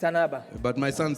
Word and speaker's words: Ann Arbor: It's Ann Arbor. I say it like a Louis Anaba, It's Ann Arbor.